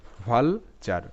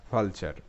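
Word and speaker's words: vulture: pattern ঠিক আছে সবসময় টি ইউ আর ই এর উচ্চারণটা চার হয় এটা প্যাটার্ন এখানে টি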